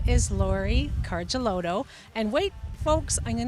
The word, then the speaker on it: Lauri Karjaluoto: wonderful, long-time avid skier, and his name is Lauri Karjaluoto. And wait, folks, I'm going to try to say it properly for you, Lauri. Lauri Karjaluoto.